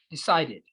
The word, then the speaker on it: decided: Todos los verbos que terminan en D, en el sonido de la D, o en T, son los únicos casos donde la finalización ed de los pasados se pronuncia como it. Es el único caso donde la e realmente tiene un sonido, que es e, no es e, es e. It's a short sound. So you say decided, needed.